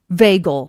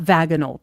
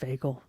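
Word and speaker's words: vagal: Vagel, not vaginal. Do not say it. It is not. It is ve It is pronounced veagal.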